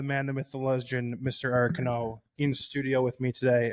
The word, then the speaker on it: Cano: My name has been butchered for years, and I never really corrected anybody. It's actually Cano.